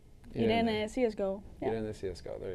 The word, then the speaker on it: iRene: How do you pronounce it? I just say Irene CSGO.